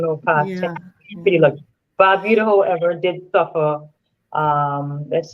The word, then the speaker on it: Barbuda: I always pronounce it Yes, wrong. I'm sorry. Antigua and Barbuda. Barbuda, not Barbuda.